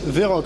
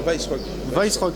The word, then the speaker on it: Weisrock: Vesrock, que je prononce bien. Non, Weissrock.